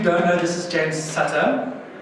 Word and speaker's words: Sutter: Sutter. No problem. I make the mistake often, trust me. I mispronounced Linda's name yesterday as well, so it does happen.